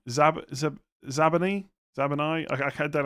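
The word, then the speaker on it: Zabarnyi: Zabani.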